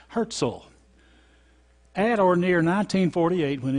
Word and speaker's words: Herzl: and away to any this is Theodor Herzl that's what he pronounced that Jordan HAART zle Herzl at or near 1948